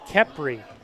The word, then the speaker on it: Capri: Oh, Amber Wood says her name is pronounced Capri. I need an enunciation. I need an accent. Capri.